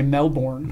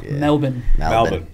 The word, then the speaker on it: Melbourne: Most Americans say Melbourne. They do, yeah. Melbourne. Yeah. B-I-N.